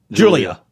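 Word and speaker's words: Giulia: I always say her name wrong. Uh G I U L I A Julia. Yeah, Julia.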